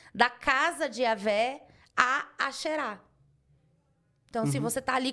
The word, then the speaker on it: Asherah: A pronúncia é essa mesma, né? É Asherah, né?